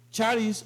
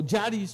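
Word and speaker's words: χάρις: significa favor del griego charis o o Yaris O jaris como le lo quieran pronunciar eh significa gracia bondad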